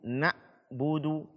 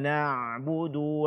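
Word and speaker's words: نَعْبُدُ: dia tidak pula sedang berarti kita membacanya ketika dia syukur suara masih tetap mengalir nah wudhu nah wudhu tidak boleh terputus iyyaka na'budu wa iyyaka nasta'in bukan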